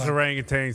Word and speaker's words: orangutan: what it's like those orangutans have been looking for somewhere to hang too it's orangutan you know what I mean uh but I appreciate you mispronouncing it on purpose seemingly because how they